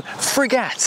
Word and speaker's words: Frégate: in the description below this is the Renault frat and this is apparently the correct way to say it because that's how a